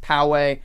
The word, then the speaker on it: Poway: barbershop poway i said it right right yes poway in college area brought me a tea i